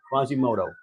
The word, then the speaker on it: Quasimodo: right is the Quasimodo Quasimoto Quasimodo right Quasimodo that's how you say it French right Quasimodo all right